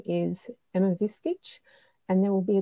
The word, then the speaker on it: Viskic: who's just logging on my name is emma viskitch and there will be a quiz later on on how to pronounce my surname and the winner gets a